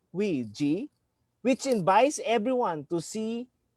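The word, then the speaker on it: 危机: In an unprecedented crisis like this, let us consider the word interpretation of crisis in Chinese literature, which is pronounced Wei Ji, which invites everyone to see both danger and opportunity.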